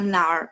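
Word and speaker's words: 哪儿: Jadi baca nar itu langsung disambungin dengan nar. Jadi langsung satu, enggak nar, no. Nar ya, karena kemarin ada yang murid bacanya nar, bukan ya, tapi nar, langsung nyambung dengan narnya ya.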